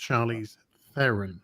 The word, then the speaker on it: Charlize Theron: She says her name is pronounced Charlize Theron.